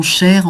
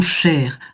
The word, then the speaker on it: cher: Voilà, mon cher, en prononçant le R. Mon cher, ma chère, mon cher. Là, effectivement, on prononce le R final. La consonne est prononcée.